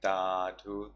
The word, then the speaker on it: Sadhu: And if you like that, you can say Tadhu, Tadhu, Tadhu, which is the Burmese pronunciation of Sadhu, Sadhu, Sadhu.